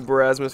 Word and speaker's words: Barasmus: Thank you, Barasmus, for the prime sub. Oh, I'm so wet. That's how you say it? Barasmus? Yeah, it's like Marasmus from Team Fortress. Oh. But with a B.